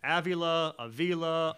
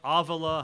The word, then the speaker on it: Avila: before this, I said, your last name, man, Avila, Avila, how would you like it pronounced? Never stopped. And between he and his son, he said, we don't really care. It doesn't really matter. They all work. You can go with any one of them.